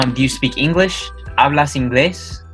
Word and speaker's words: inglés: ¿Hablas inglés? Yes, it's pronounced inglés for those of you reading. If you don't know about the vowels of Spanish, inglés is how this is pronounced.